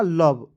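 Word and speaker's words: love: व क्या हो जाएगा लव और इसमें दोस्तों ओ और ई को साइलेंट रखते हैं ठीक ठीक है जैसे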